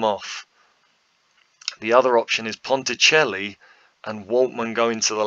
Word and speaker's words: Ponticelli: to last the game jordan ponticelli i hope i'm saying it right with a little bit of an accent on the c um he goes to